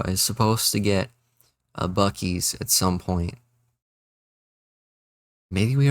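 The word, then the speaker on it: Buc-ee's: For them, is it like Bucky's?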